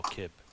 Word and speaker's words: Kib: is Herman and Kibble. No, Kib. Not Kibble. Kib. With a K.